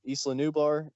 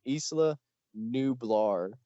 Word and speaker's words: Isla Nublar: have two settings that you can play on eastlaneubar or isla nubar and i feel like i'm botching that pronunciation isla nublar there you go isla sorna and